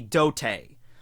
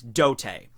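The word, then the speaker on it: 童帝: Okay, so the way that you would say Child Emperor's name in, Japanese would be Dote. Alright, that's how it's said in Japanese, Dote.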